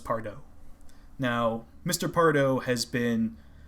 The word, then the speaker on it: Pardoe: And I may be mispronouncing that, but I believe it's pronounced Pardoe.